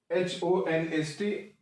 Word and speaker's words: honest: इसी तरीका से HONEST, that is H silent है, it is pronounced honest.